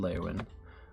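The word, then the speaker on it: Leyawiin: All right, so he's in the Lewin. He's in the Lewin. He's just in laywin. That's the correct way to say that.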